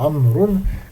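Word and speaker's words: عمرو: Ça vous devez savoir pour Amroun quand il est mansou le wa du amroun il s'enlève parce que le wa c'est un wa de amroun c'est un d'indication non pas de prononciation il sert comme je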